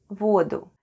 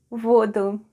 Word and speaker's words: воду: When the original noun ending is a, we change it to u and occasionally shift the stress to the other syllable.